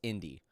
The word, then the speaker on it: indy.: The one that he's joking about most recently is, so my artist name is, you pronounce it just Indy, but at the end of it there's a period or a full stop, and so all my socials are now so Indy full stop.